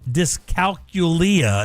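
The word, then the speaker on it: dyscalculia: She does not suffer from disalculia is actually how it's pronounced.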